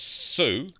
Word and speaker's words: Sou: I don't know So why I guess S-O-U is pronounced so, but I'm pretty confident that's what.